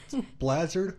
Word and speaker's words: Bleazard: yeah that's true ah bladder rhymes with hazard all you people out